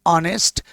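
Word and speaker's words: honest: ध्यान रहे कि उपरोक्त एग्जांपल्स में ऑनेस्ट आ का शुरुआत कसोनेंट लेटर एच से है। परंतु यह उच्चारण में साइलेंट रहते हैं। और इनका उच्चारण वोवेल साउंड अ से प्रस्तुत होता है।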